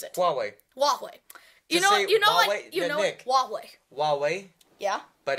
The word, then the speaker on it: Huawei: No, it's pronounced Huawei. Huawei.